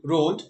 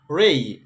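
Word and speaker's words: x-ray: এক্স রে বলি আমরা, এটাকে বলতে হবে এক্স রে, রে না, এক্স রে ভুল উচ্চারণ, এক্স রে না বলে আমরা বলবো এটাকে রেই, এক্স রে।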